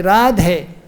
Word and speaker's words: Radhe: But when we call out to her, then we say Radhe.